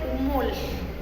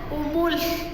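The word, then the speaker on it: umül: Vamos a conocer cómo se dice conejo y se dice humul. Si se dan cuenta, Kinahuacashaj, escuchemos, la L al final es como una F sopladita, humul, humul.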